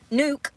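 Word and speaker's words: Nuuk: the in the Listen Hold on and it's pronounced new not Nook see progress baby steps um Greenland that's so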